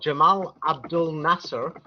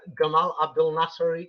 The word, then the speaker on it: Gamal Abdel Nasser: Now, for the Arabs, they have a man called Jamal Abdul Nasser, but I will use the Egyptian pronunciation because he was Egyptian.